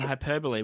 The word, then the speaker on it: hyperbole: So just like when I first learnt that hyperbole and hyperbole were the same thing.